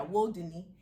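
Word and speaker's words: wudini: is spelled w-u-d-i-n-i but you clarify it's not pronounced like houdini which is how it is it's not that so yeah it's world disney what yeah disney like will there and yeah woe dunny and what is that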